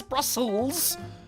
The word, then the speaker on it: Brussels: It's just the S continues to the other S. I know it's Brussels.